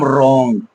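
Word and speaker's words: wrong: আর থাকবে তখন কিন্তু ডব্লিউ টা কি থাকবে সাইলেন্ট থাকবে এরকম কিন্তু আমরা বিভিন্ন একাধিক কিন্তু আমরা এক্সাম্পল পেয়ে যাব যেমন রং ডব্লিউ আর ও এনজি রং এরপরে আমরা আরো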